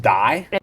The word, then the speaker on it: Dey: with Dr it's pronounced die it's not day it is not I